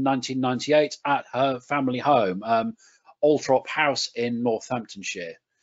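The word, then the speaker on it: Althorp: trop house in Northamptonshire yes I know it's a strange way to pronounce a word where the R is over to the oh but for some reason that's just the way they do it and you can see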